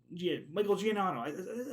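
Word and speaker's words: Giacchino: Let's see, Michael Giannotto.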